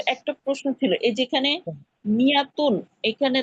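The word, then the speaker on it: مائة: হুজুর একটা প্রশ্ন ছিল, এই যেখানে মিয়াতুন, এখানে তো একটা মির সাথে তো একটা আলিফ আছে। এই আলিফটা শুধু লেখায় থাকে, উচ্চারণে থাকে না, ঠিক আছে?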